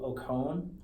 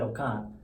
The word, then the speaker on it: Okon: in from Nigeria hello in Nigeria you say Oh calm okay but growing up here we just say okay okay see when I was interviewing your sister I said oh calm and then I asked her if I pronounce